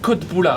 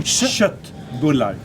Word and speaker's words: köttbullar: So how do you pronounce this? I say köttbullar. Yeah, but you need to do köttbullar.